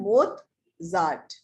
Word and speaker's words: Mozart: ये ना Mozart है, पर इसकी pronunciation है Mozart। यहाँ पे त की pronunciation है, I don't know कहाँ से आई है, पर वो है।